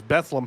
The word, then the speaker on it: Bethlehem: now I realize that the way that I pronounce that is bethleem Pennsylvania only those of us who live in Southeastern and Northeastern really the Eastern side of Pennsylania we're the only people who could say Bethlehem and this is the